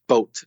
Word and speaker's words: boat: board no no no it's a boat a boat it's the same sound as words like go or no or fog boat boat aren't English